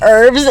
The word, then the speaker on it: herbs: random fun things herbs what do you say herbs the H is silent was today years old when we learned that herbs is